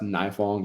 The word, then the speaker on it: Nifong: So, my my last name is pronounced Knifong. You said Nefong. I've heard that my whole life. Okay. Nong, long I.